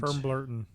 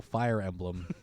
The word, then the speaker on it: Fire Emblem: You talked about Metroid and Firmblurton. Huh? Firmblurton. Oh, Fire Emblem. I guess that's one way to pronounce it. Firmblurton. If a bit incorrectly, I guess.